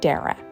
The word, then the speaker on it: Dara: Wisdom and decided to name me Dara, which rhymes with Sarah, though at the time none of us knew that most people would have difficulty pronouncing it that way.